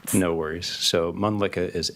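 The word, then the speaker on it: Mölnlycke: because it's kind of hard to spell and pronounce? No worries. So, Mlicka is M O L N L Y C K E.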